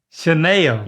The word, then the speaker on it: Chanel: Sh. Is it or Chanel? No. Ch. It's not Ch. It's not. Uh-uh. It's Chanel. Yes, that's it. All right, next one.